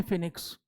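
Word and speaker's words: Phoenix: form की स्थापना की जिसको बहुत सारे लोग फोनिक्स बोल देते हैं इट is like this फीनिक्स फम फीनिक्स फोनिक्स नहीं बहुत स लोग क्या पढ़ते हैं फोनिक्स व साइलेंट होता है दिस इ फ ठीक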